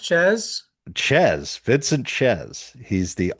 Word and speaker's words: Czyz: It's pronounced Ches.